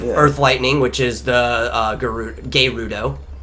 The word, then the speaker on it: Gerudo: lightning, which is the Gerudo. That's how you pronounce it. You don't blur the R's together with Japanese words. Each are a syllable.